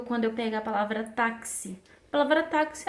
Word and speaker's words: táxi: Então, quando eu vou fazer a transcrição, táxi, eu pego T-A-K-S-I. Então, esse X, ele tem o som de K e S.